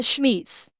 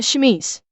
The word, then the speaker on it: chemise: I don't know if they would have padding or if they would simply just have a chemise. And I've just pronounced that wrong. A chemise.